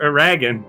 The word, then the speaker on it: Eragon: The Aragon books. Aragon! Stop saying Aragon! It's spelled like dragon, and it's about a dragon, so it should be pronounced Aragon.